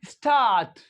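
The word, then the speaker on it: start: इसी तरह से एस टी ए आर टी स्टार्ट स्टार्ट इसी तरह से ए आर एम आर्म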